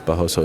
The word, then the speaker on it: Barroso: My colleague Guilherme is telling me that it's Barroso. It's not Barroso. You are wrong, Guilherme. I asked him yesterday. He told me it's Barros. Barros. It's kind of like Barão.